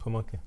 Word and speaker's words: Pamunkey: How you pronounce that word? The Pamunkey tribe? Pamunkey.